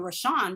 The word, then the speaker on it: Rashawn: And you took the time out to at least say, well, I hear his wife saying Rashawn. That must be the right way to pronounce it.